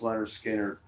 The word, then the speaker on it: Lynyrd Skynyrd: subsidiary of MCA records and they put out pronounce Leonard Skinner um I'm going to I'm going to list